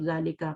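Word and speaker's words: ذلك: ठीक है, ज़ालिका को आप इस तरह लिखते हैं, बट प्रोनाउंस कैसे करते हैं उसको? ज़ालिका करते हैं, ज़ालिका अलिफ लगा के करते हैं, ज़ालिका। और ज़ाल को आपको पता है नरमी से अदा करते हैं ना, ठीक है, ज़ालिका। बट इट is written without अलिफ, लिखा अलिफ के बगैर जाता है लेकिन पढ़ा इस तरह जाता है, प्रोनाउंस इस तरह करते हैं।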